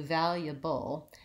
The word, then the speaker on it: valuable: and I would do valuable and I would leave out this schwa and go right from the yeah to the bull valuable especially if I'm saying